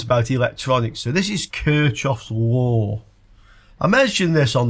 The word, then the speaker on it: Kirchhoff: he said oh yeah kof one of my fellow countrymen so de LEF is German and kof was German so he pretty damn well knows how to pronounce it if you ask me